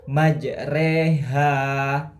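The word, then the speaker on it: مجريها: mursaha majreha wa mursaha majre re biasanya dibaca dengan ro namun pada ayat ini atau surah al-Hud ayat 41 ini dibaca majreha.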